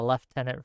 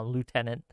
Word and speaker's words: lieutenant: yeah I pronounced it I pronounced that uh leftenant for a little bit um Lieutenant uh that was not